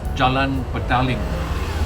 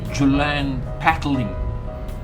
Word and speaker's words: Jalan Petaling: and by the way the name of this place is in Malay and therefore the pronunciation is Jalan ping uh it is not pronounced as julan pading right Jalan ping is